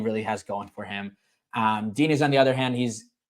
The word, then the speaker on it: Diniz: But anyway, next up, feature fight of the night, we got Derrick Lewis versus Jhonata Diniz. With a Brazilian accent, it's pronounced a lot prettier. Denise.